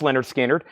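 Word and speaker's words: Lynyrd Skynyrd: sealed $ 36.99 for Mega Death this is Leonard skinnard pronounced Leonard skinnard that's new and sealed $ 36.99 for Leonard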